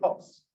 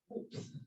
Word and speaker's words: Hobbes: Muy bien, Hobbes. Otros académicos que quieren sonar más importantes dicen ups.